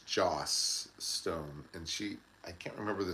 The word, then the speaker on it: Joss Stone: It's not Josh Stone, it's Joss Stone, and I can't remember the song she sang, but she was very good.